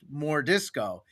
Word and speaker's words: M'jorDiscau: And so we changed it so it's pronounced more disco. But on paper, it's written as M'jorDiscau. So it's like M'jor Discau, but everyone calls him More Disco.